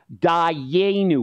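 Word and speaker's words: Dayenu: and over again and this word is pronounced Dau everybody say Dau that was great would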